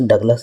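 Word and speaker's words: Douglas: अब अंग्रेज तो दोगला ही था, तो जो दोगला था ऐसे डगलस है उसका प्रोनाउंसिएशन। ऐसा नहीं कि मेरे को प्रोनाउंसिएशन आता नहीं है, उसका प्रोनाउंसिएशन डगलस था, लेकिन मैं दोगला बोल रहा हूँ, ठीक।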